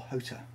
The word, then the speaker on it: Jota: So that's the new one from Jota, or Hota as he pronounces it.